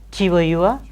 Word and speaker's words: tour: So, normally the R will be silent in medial position and in final position.